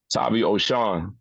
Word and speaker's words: Tavi Oshon: Tavi Oshon, right? Tavi Oshon.